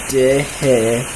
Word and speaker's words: Dih: My name is Dih. It's pronounced Dih, which is pronounced did without the final D, and him without the M, and combined to be Dih.